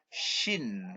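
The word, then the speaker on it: ش: ini supaya tajwidnya kena kalau huruf ini yang tidak punya titik ini bacanya biasa aja Sin tapi kalau yang punya titik tiga ini membacanya shine shine lebih jelas kemudian should nah huruf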